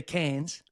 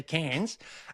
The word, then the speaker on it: Cairns: So then I become a fucking local, and I say cans, and these Irish girls were like, it's not cans, it's Cairns.